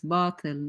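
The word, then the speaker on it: باطل: Yeah, by the way, it's batil, not batil. It's batil, which means falsehood, by the way.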